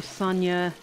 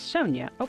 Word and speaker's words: Sonia: right gus albert toddy sonia i'm sorry she actually pronounces it as sonya time for the meeting